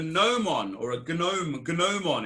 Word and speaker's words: gnomon: It's called a gnomon, or a gnomon it's spelt, but it's called a gnomon.